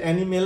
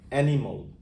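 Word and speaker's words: animal: নয় এলও নয় অল যেমন এই শব্দটা এটা এনিমেল নয় এনিমেলও নয় এটার উচ্চারণ হবে অ্যানিমল অ্যানিমল এইটা কেমিক্যাল নয় কেমিক্যাল কেমিক্যাল এই শব্দটা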